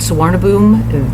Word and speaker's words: Suvarnabhumi: in Bangkok which we love uh the courtyard swab boom that is what we've been told is the correct pronunciation for the airport here in Bangkok the